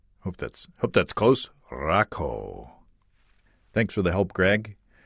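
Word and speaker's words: Rakau: Hey guys, the name of the hop is Rakow. Rakow. Hope that's close. Rakow. Thanks for the help, Greg. Let's see if I can remember that for next time. Rakow.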